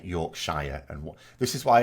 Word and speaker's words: Shire: yorkshire Foods that's fine because how do you pronounce the shire from Lord of the Rings is it sure no is Shire the implication being I think